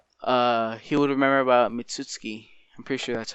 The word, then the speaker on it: Mitsuki: at least Naruto uh he would remember about mitsuki I'm pretty sure that's how you pronounce his name and how he tried to